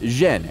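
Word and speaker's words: 甄: In the Beijing dialect, his surname is pronounced Zhen, and Yen is the Cantonese pronunciation.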